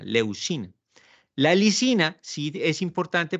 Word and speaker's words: leucina: glutámico y la leucina yo dije ina pero acá quiero tal vez me me equivoqué en la pronunciación leucina es el que empieza la síntesis proteica no licina leucina la lisina sí es